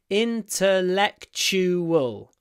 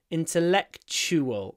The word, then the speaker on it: intellectual: I enjoy intellectual conversations at the end we have a tu I pronounce it CH intellectual intellectual and the UA has a w intellectual intellectual intellectual conversation